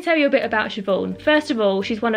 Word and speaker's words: Siobhan: This is Siobhan, or if you're from Southend, it's pronounced Siobhan.